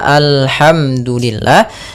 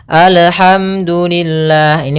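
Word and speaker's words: الحمد: Yang pertama yaitu dia memantulkan huruf lam. Lam memantul. Memantul. Ah ini salah. Apabila ada huruf lam mantul maka dia salah. Contoh memantul bagaimana? Alhamdulillah. ini mantul atau alham alham ya atau misalnya sakta alhamdu ah ini salah juga harusnya dia mengalir suara lamnya alhamdu alhamdulillahi kemudian rabbil alamin pada lafal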